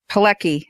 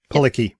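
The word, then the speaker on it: Adrianne Palicki: And Adrian Palicki, that's how you pronounce her name, right? Palicki, yeah. Yeah, Palicki.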